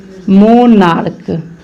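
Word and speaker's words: monarch: मोनार्क देखिए तो यह मोनार्क जैसे लिखे हैं तो CH को का उच्चारण किया, तो इसको क्या बनाना है हमें, प्लूरल।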